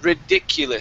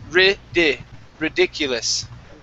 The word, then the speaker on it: ridiculous: The word here is pronounced ridiculous. Short I's, ridiculous.